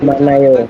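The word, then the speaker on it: 많아요: Ada yang hilang? Ada. Apa yang hilang? Adalah hiyatnya ya. Hiyatnya hilang teman-teman. Dia tidak dianggap seperti itu.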